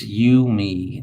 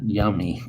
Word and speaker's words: Yumi: Oh, she's saying my name is Yumi, not Yummy.